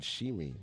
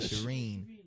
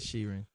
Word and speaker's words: Sheeran: Oh, Ed Sheeran. Is it Sheeran? Or Sharon? Sharon? Ed Sheeran? Is it Sheeran? Look at this guy. I said it right? Is that Sheeran? You said Shireen.